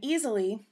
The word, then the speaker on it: Easel.ly: And Easelly, which is spelled EASEL.LY, is a free site to use.